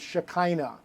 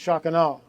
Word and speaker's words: Shekinah: that's how it's pronounced the American bastardization of it is Shekinah but it's actually pronounced shakano and so when you